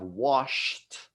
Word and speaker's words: washed: ends with T and then we have washed with that which actually has a T sound so we have a